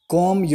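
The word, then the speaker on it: comb: एक तरह से बनाओ को म्यूट और हेर properly कॉम your hair properly यहां पर भी साइलेंट होगा हम टिप्स को कोम पढेंगे सी ओ एम कॉम कॉम your hair properly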